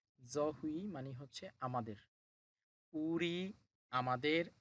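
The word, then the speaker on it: 저희: এটা এক সংযুক্ত স্বরবর্ণ, উই, উচ্চারণ হবে হুই। জহুই, জহুই মানে হচ্ছে আমাদের।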